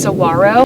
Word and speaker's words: saguaro: cactus in the country and they're called the saguaro cactus it's actually technically pronounced saguaro and it can grow about 40 feet tall